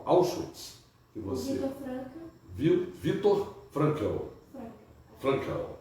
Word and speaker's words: Frankl: Frankl, é a pronúncia do alemão, né?